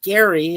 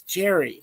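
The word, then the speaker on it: Gerry: It's not Gary, it's Jerry.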